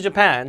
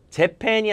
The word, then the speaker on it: Japan: 그래서 I remember going to Japan. 자, 강세가 재팬이 아니라 뒤에 강세니까 Japan이라고 말씀드렸죠.